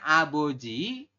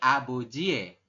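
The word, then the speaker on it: 아버지의: jadi e n gitu bukan aboji bukan abojii tapi abojie seperti itu ya Jadi dibacanya adalah abojie shinbal kenapa Karena di sini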